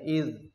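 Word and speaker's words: إذ: Jadi kalau ada seperti itu tanpa alif setelah za itu bacanya idh, artinya karena. Kalau ada alif setelahnya itu idza.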